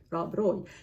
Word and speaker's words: Rob Roy: Rob Roy. That's all that I'm doing. So I'm not any closer. Am I closer? I think that I am closer, because in Scottish, the R is rolled.